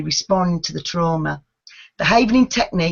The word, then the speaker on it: havening: Okay, the original event havening method effectively works by permanently removing specific receptors within the brain pathway, holding the biological imprint of a past trauma.